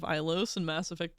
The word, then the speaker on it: Ilos: Even Caden says Elos instead of Ilos in Mass Effect 3.